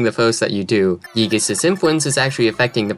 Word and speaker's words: Giygas: by the cosmic destroyer gigas that's that's the right way to pronounce it and you can't convince me otherwise and a prophecy that